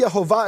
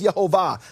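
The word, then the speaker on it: יְהֹוָה: Ki ani Yehovah Elohechem, for I am Yehovah your God, and you can't miss it. It has the full vowels. It says Yehovah.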